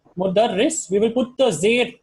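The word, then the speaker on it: مُدَرِّس: This is mudarris. Okay, so you have to pronounce it clearly. So this is mudarris. What is the second one? Oh, okay, that is mudarris and that is mudarras.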